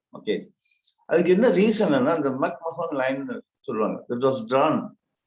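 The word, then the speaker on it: McMahon: இட் இஸ் நாட் மக்மோகன், இட் இஸ் மக்மஹோன்.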